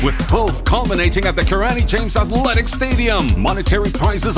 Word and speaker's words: Hatuey: Then we also have Hatuey, that's how you pronounce it, Hatuey, an accomplished engineer with over 17 years of experience, son of the soil.